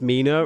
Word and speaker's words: Mina: I felt my face light up as I realized Mina rhymes with Wiener.